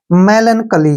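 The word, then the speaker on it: melancholy: पर ध्यान से देखिए जब भी वावल से पहले सी एच आता है तो वहां सी एच का उच्चारण क हो जाता है ठीक है ना तो सी एच का उच्चारण हम क पढ़ेंगे ठीक है ओ का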